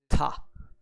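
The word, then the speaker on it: 田: shapes like these and the kun reading for this kanji is tah now how could we relate that to rice field well let's say for example we are looking for a rice field and somebody has found one and how is he going to suggest that he has found one tada there you have your eyes filled rice field tah-dah let's move on this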